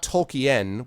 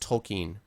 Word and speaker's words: Tolkien: um tolken no tolken it's it should be pronounced not tolken which is how I used to pronounce it but it should be pronounced tolken that's how that's how he pronounces it yeah